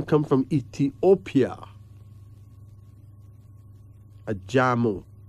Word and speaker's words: Ajamu: Ajamu. Ajamu. A-J-A-M-U.